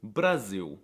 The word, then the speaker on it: Brasil: The L is also quirky because it's often pronounced as a W, like in the word legal. Well, it looks like it should be pronounced legal, but it's actually legal. Another example is Brasil.